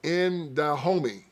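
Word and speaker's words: In Dahomey: And the first to star African-Americans, it was Indahomey. I-N-D-A-H-O-M-E-Y. I know y'all thought I said Indahomey, like he my homie. No, that's how you spell it.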